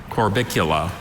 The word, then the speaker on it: Corbicula: Corbicula.